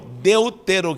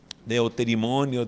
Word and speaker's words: Deuteronômio: chama números e deuteronômio deuteronômio que muita gente se confunde ao pronunciar de eu ter imonio deutero de nome o